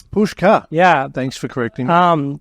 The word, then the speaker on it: Puscha: to Hardware Road and it's time we welcome Pusher hello how you doing yeah good yeah thanks for having me on Adrian my pleasure uh it's pronounced pushka pushka yeah thanks for correcting um no one gets